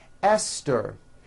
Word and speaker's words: Esther: Although these next words and names are spelled with a TH, they are pronounced as if they were spelled with a normal T, like that.